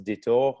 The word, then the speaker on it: détour: calls in French a détour, which is, I mean, same in English, we say detour. But the way in French it's interesting because détour, it sounds like retour.